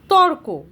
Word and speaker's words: তর্ক: এই উচ্চারণটা হচ্ছে তর্ক। এই যে তর্ক এই বানানটার উচ্চারণ উচ্চারণ হিসেবে যদি আমরা ভাঙ্গি তখন কি করে পাবো? ত র কয়ওকার। মানে ক এর আগে রটা উচ্চারণ হচ্ছে।